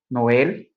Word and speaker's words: Noël: Le tréma, ce sont les deux points placés sur le E, le I et le U pour indiquer que la voyelle précédente doit être prononcée séparément. Par exemple, Noël, maïs.